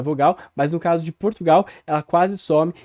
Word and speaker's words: Portugal: Por fim, de uma forma grosseira, tem ali o L final, que no português brasileiro é predominantemente pronunciado como uma glide ou como uma semivogal, vamos dizer assim, que seria um U. Então, Portugal. Percebam aqui que não tem resquício desse L, só tem uma vogal U.